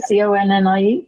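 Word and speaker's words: Koni: Connie, It is Connie, Connie. it's K-O-N-I. K-O-N-I. I knew it wasn't Connie. It is Connie, but it's just not. It's not spelled the same.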